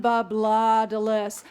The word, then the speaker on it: Babladalis: I should say Colton Babladalis. That's how he pronounced it on our voice practice name thing.